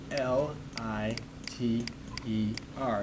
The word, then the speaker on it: liter: The Leader it's spelled l i t e R it looks like the word lighter but it's pronounced liter this is milliters so